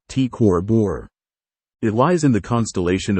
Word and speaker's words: T CrB: is T cor Borealis TCB pronounced T cor bore it lies in the